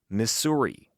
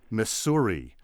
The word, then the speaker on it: Missouri: Missouri or mura and there was a movement in the late 19th and early 20th century mostly from easterners to try to enforce that hissing s pronunciation Missouri and it it failed of course dismally because people as prominent